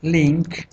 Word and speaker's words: LINQ: Vamos a llamarlo en este caso Link Project de tipo aplicación de consola y le llamamos Link, porque ese link se escribe con Q, Link Project.